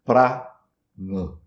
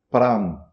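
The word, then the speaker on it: प्राण: Primeiro a é longo, o segundo é curto. Pra nã. Se pronunciar em ringe sai pram. Pram sem o a final.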